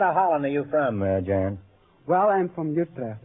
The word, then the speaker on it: Jan: pronounce that, Jan? Jan, that's right.